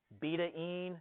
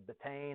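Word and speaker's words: betaine: buet acid vitamin B12 beta I had to look up how you say it that's how you say it instead of betan it's Beta And so those mou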